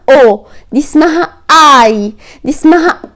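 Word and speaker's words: ho: انا عايز اقولك ان الاتش او الاكا في الايطالي حرف هفأ ما بيتنطقش، اسمها او، دي اسمها اي، دي اسمها ا.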